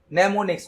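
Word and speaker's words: mnemonics: नेमोनिक्स code, यहां पर M silent होता है।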